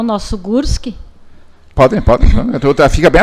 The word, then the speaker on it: Gorski: Vamos saber quem é então Nara Gurski. Eu sempre digo Gorski, porque cada um, né, sua forma de dizer, mas é Gurski, né, mas se escreve com O.